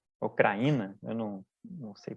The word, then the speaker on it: Krajina: E eles criaram a República Sérvia de Krajina, ou Kraína, eu não sei pronunciar. Ah, é. Pelo que eu vi das pronúncias, né, você fala Krajina mesmo, né?